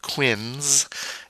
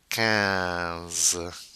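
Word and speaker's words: quinze: nasal ah I N cans cause q u making the k sound that's not Quinns it's Cavs Cavs then we have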